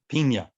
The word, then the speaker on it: Pina: Pina. Pina as in pineapple, that would have a little squiggly line over the end.